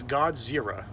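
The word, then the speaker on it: ゴジラ: up a good point how pretentious is it of English speakers to call a Japanese monster Godzilla when they know darn well that they can't pronounce that it's God's zerah zerah here you stupid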